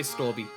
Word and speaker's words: strawberry: about a milk flavor, you don't say strawberry. You just say strawby. It's stby milk. Australians love cutting off letters uh like letters from punctu from punctuating uh punctuating words properly. Uh pronunciating words properly, but um strawberry milk just being STY milk is a very common one that I've